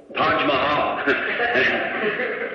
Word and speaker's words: Taj Mahal: How'd you, pronounce that Taj Mahal hotel? Taj Mahal.